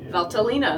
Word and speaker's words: Valtellina: And uh today we're going to learn a little about Valtalina. Valtalina.